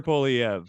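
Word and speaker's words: Poilievre: nailed it all right excellent I've heard perfect pronunciation Pierre poliev uh yeah just he seems like a sharper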